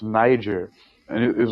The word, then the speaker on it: Niger: Stam was like, "No, it's pronounced Niger," and it was like, "Whatever, looks like nigger to me."